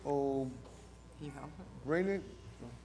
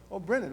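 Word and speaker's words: O'Brennan: O. Brennan? How do you say your name? Oh, Brennan, okay. I should be able to say that. Oh, Brennan. Just spelled a little funny, that's all.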